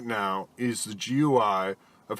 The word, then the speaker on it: GUI: part of the GUI a graphical user interface pronounced GUI basically when we use